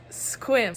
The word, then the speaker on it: Sequim: to our newest destination squim which is spelled s-e-q-u-i-m but apparently pronounced squim so that's fun but